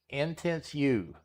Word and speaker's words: Intisuyu: I believe that's pronounced intense, but I don't know that. Intense U. I think that's what it's how it's pronounced.